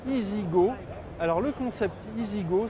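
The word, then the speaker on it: EZ-GO: car de renault que qui s'écrit aux aides tirées géo mais qui se prononce easy go alors le concept easy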